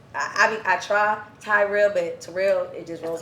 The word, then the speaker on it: Terrell: Cuz I saw you was like my name is Tyrell. Tyrell. Not Treel.